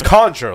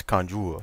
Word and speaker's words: conjure: It's conjure, like a wizard would conjure. Unless you're French, it's conjure. Conjure. I was doing the French pronunciation.